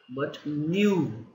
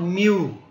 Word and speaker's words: nu: Okay, and this is nothing but nu. Okay, not mu.